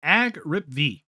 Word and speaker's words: AGRIPV: I've been calling Agripv, or I guess you could say AGRIPV.